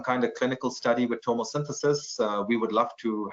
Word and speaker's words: tomosynthesis: And can you comment also about tomosynthesis with spectral DR? Sorry, I hope I pronounced that correctly.